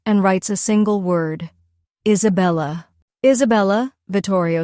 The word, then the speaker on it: Isabella: tip of the quill he points to each syllable as he recites them aloud. I say, lay, Isabella.